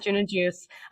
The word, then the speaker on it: June and Juice: We pronounce it June and Juice.